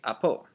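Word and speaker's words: ἀπὸ: and it means that it's going in a downward inflection. And so it's, instead of apo, it's apo, coming downward like that. Say apo.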